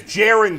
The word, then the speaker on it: Jaren: By the way, it's Jaron, Christian.